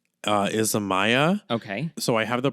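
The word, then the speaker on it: Isamaya: This is from, I always forget how to pronounce this brand. So it's Izamaya.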